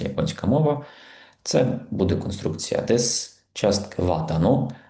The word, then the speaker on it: です: Зверніть увагу на вимову. Здебільшого вимовляємо її як дес, а не дес.